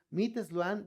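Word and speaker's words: MIT Sloan: Es Meet Sloan de Management Review.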